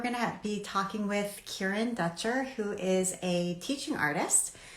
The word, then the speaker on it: Kieren Dutcher: It's Kieren Dutcher.